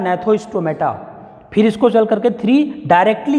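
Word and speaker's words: Gnathostomata: एक हमारा जो उपसंघ है वो है एगनेथा, और दूसरा जो हमारा उपसंघ है वो है, जी साइलेंट है, नेथोस्टोमेटा।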